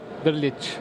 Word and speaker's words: Drilic: Drilic, yes, is that close? Yes, yeah. Okay. How do you say it? Drilic. Okay, I was pretty close.